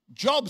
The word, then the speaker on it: Job: In Job, I was going to say job, praise God. Get a job, praise God, all right. How many of you cannot work out why it's spelt job but said Job?